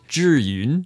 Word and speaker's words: Zhiyun: to my Hong Kong upbringing if I didn't pronounce it correctly, so repeat after me. Zhiyun, but I digress.